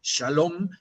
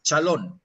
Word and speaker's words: shalom: que te aparece y te dice chalón, que es su manera de pronunciar shalom, es chalón, ¿no?